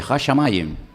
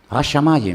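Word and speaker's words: הַשָּׁמַיִם: Hashamayim. Hashamayim, los cielos y la tierra.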